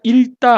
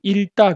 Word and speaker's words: 읽다: 우리가 읽다 할 때는 앞에 리을만 취합니다. 그래서 읽다 그래요.